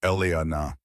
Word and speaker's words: Elena: Elena. He pronounced it fully. Three syllables. Elana. The way her grandmother used to say it.